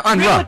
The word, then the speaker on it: Unruh: Yeah, I say it's Unruh. Ruh, R-U-H, Ruh. That was a famous family. Yeah, Unruh.